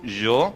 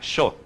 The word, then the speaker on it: yo: Então eu digo yo, né, com a minha pronunciação por ser nativo do Chile. Se eu fosse da Argentina, a minha pronunciação seria diferente. Talvez seria um som de CH, yo, né?